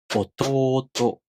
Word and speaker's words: 弟: Since to is followed by a long vowel, you put them into a pair first. 弟、弟.